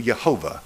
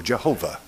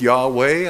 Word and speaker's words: Jehovah: us vowel points and we pronounce it I do yahovah or Jehovah I don't go with Yahweh I have no reason to depart from Jehovah and so what we